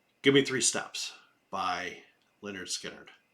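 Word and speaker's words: Lynyrd Skynyrd: And that was Give Me Three Steps by Leonard Skinnard. It's actually on their first album. It's pronounced Leonard Skinnard.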